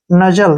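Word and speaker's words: nuzzle: एल को ल और जो लास्ट में ई होता है उसका उच्चारण कभी नहीं होता नजल क्या पढ़ेंगे इसको नजल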